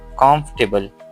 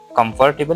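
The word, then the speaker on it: comfortable: इसमें क्या यह एफ ओ आर जो है यह साइलेंट हम करते हैं तो क्या हो जाता है फिर कंफर्टेबल यह हमने कंफर्टेबल नहीं बोलना चौथे नंबर पे हमारे पास है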